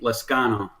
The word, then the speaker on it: Lezcano: it going thanks for having me on um lascano yeah okay man it's it's not an easy one to pronounce awesome well thank you man I appreciate